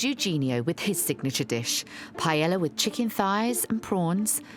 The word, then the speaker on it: paella: It was quite important with a paella.